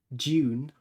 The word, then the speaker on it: Dune: How would you pronounce it, Dune? June? June. The Butlerian jihad is right, yeah. June, sorry. For our Americans out there, we should do a June.